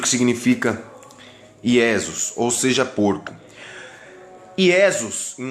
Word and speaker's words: Iesus: Por que Iesus? Porque no latim não existe a letra J, nem na língua hebraica, porque são idiomas muito antigos.